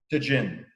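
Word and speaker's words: Tajín: If you like a spicy rim, tahin, is that correct? Is that the way you pronounce it? Yeah. Tajin.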